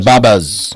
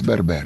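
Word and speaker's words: Berber: Uh, you know, the original inhabitants of Tunisia were the Burbar, the the Babas. They called Babas, but it's Burbar.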